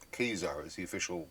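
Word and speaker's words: Ka-Zar: I used to always pronounce it as Khazar, but it's Khazar is the official pronunciation of that.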